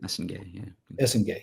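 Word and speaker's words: Essengue: 8.4, Noah Esenge. Is that how you say it? Esenge, yeah.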